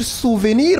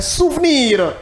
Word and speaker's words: souvenir: Voilà le ouvert qu'on lit e, voyez-vous comme et lève lève lève-toi voyez-vous maintenant le e muet ou encore le e sourd que l'on ne prononce pas, il est muet.